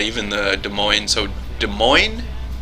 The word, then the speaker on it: Des Moines: the Des Moines so des moines Des Moines yeah the because the s in the des is silent and the S at